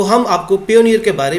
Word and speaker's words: Payoneer: बहुत सारे लोग इसको इवन कई जो इंस्ट्रक्टर हैं जो वीडियो बना रहे हैं वो पेयोनियर को पाइनियर पढ़ रहे हैं।